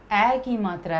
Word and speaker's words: मैं: में, अब इसको प्रोनाउंस करो, में। तो में और मैं दोनों में बोलने में भी अंतर है।